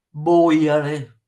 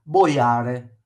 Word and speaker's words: boiare: Bollire, boiare, boiare va sulla O. Infatti se lo mettete sulla A, boiare, no, non ha senso.